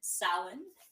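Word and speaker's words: Samhain: very ancient Ireland so historians disagree about When sin which is spelled like do I have it right side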